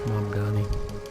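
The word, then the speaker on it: Mamdani: Mom Donnie. I think I said his name wrong in the past. Mom Dani.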